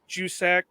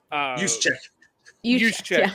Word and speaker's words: Juszczyk: And I can't pronounce the guy's last name for nothing, but the fullback from San Francisco, Jusek. Juszczyk.